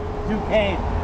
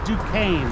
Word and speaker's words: Duquesne: Duquesne. Duquesne? Yeah, it's French. Okay, gotcha. It's not French to me, but it's Duquesne.